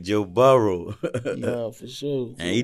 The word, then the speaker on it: Burrow: For LSU, Joe Burrow.